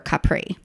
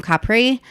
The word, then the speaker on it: Capri: to either positano or capri so we wound up doing that on the way back home from capri um i'm trying to say capri instead of capri because that's how they say it there um so there are